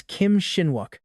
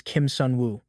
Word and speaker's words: Kim Sun Wu: Figning adorable innocence, she purposefully mispronounces his name as Kim Shinwuk. He instantly corrects her, firmly stating his true name is Kim Sun Wu.